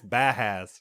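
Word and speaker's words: Bauhaus: Bajas, Bahas. Yeah. I'm sure it's Bahas.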